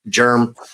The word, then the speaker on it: Jerm: It's way easier than saying Jeremy, and it's spelt with a G, or it's spelt with a J, not a G. So not that kind of germ.